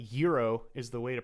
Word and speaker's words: gyro: another word for something okay so yeah like euro is the way to pronounce it in and that's closer to the group like Greek way to pronounce it but like gyro is an Americanized version tons of countries have